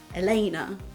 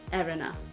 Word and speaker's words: Elena: So instead of Elena, where the emphasis is in the middle, it was just Erena.